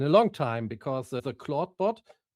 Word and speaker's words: Clawdbot: long time because the clawbot I think it's pronounced like claude but written differently. So this cla bot with the W that has been amazing.